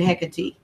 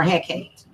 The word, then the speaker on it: Hecate: now I burn a I pronounce it hickety or Hecate okay and then you've got